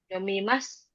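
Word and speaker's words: 読みます: Yomimas. Jadi bukan masuk, tapi mas bacanya.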